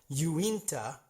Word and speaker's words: Uinta: Oh, and by the way, I am informed by Ballerina X over at social media that Uinta is how it's pronounced, and it's in a very wealthy neighborhood.